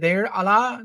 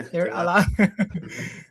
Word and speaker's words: Deir Allah: How do you pronounce it? Deir Allah. That's the way you say it. Yeah. Deir Allah.